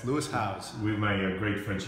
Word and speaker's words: Lewis Howes: this is leis house do I pronounce it well yes Lou house with my great French